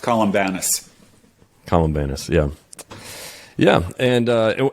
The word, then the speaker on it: Columbanus: you pronounce his name in English it's usually pronounced columbanus columbanus yeah yeah and uh and once again